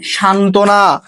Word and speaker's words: সান্ত্বনা: ঠিক আছে, 3 নম্বর নিয়মটা দেখো, যুক্ত ব্যঞ্জনের সাথে বফলা থাকলে বয়ের উচ্চারণ হয় না। যুক্ত ব্যঞ্জনের সাথে বফলা যুক্ত থাকলে বয়ের উচ্চারণ হয় না। যেমন সান্ত্বনা, দ্বন্দ্ব।